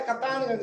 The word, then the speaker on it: कप्तानगंज: GST number दिया इसका, अरे लिख पढ़ा जाता है कप्तानगंज लेकिन लिखा जाता है कैप्टनगंज, कैप्टनगंज सही है स्पेलिंग, क्या दिया उसमें।